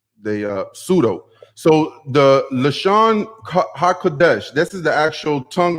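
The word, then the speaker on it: לשון הקודש: uh pseudo so the lashon hakudesh this is the actual tongue of the holies that's how you say it in hebrew you don't say la shawn qurdash you know that's definitely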